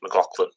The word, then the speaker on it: McLaughlin: I must correct your pronunciation. It's McLaughlin. McLaughlin.